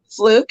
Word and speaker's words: Fluke: How do you pronounce it? Fluke is one, yes.